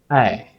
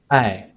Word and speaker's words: 爱: we pronounce in Chinese hey hey so a i sounds like I but different from I different from I but a and The Voice coming from the mouth not the throat ah it can be